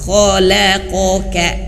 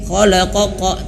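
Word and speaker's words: خَلَقَكَ: Nah, jadi jangan sampai khalaqoqa, tidak, khalaqaka tidak. Tapi kho-nya tebal, la mulutnya dibuka, la, kemudian huruf qaf tebal lagi, ko, baru yang kaf ka buka. Khalaqoka. Khalaqoka. Nah, gitu ya. Jadi jangan sampai sama khalaqoqa.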